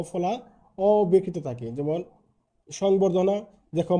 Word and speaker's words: সংবর্ধনা: এর সাথে যুক্ত ব ফলা অ্যকৃত থাকে যেমন সংবর্ধনা দেখো ম ফলার সাথে ব আছে আছে যেমন